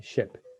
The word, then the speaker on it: ship: column explains the length the longitude of the vowel sound same happens with this one which is very popular okay is the difference between sheep and the difference between ship sheep ship that's why pronunciation is so important because if you mispronounce if you mispronounce a word it can mean something totally different there's a huge difference